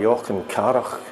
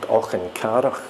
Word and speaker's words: Auchencarroch: It's worth doing a video just so that you can say the word Auchencarroch. It's kind of perhaps a typical Scottish word. The C and the H aren't pronounced K.